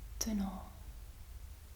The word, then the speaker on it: tunnel: So the U is pronounced differently. It's U. Dus. So tunnel. Yes. Tunnel. It's almost the same.